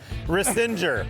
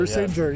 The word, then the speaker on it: Risinger: This is Risinger. Risinger. That's how I pronounce it. Risinger, yes.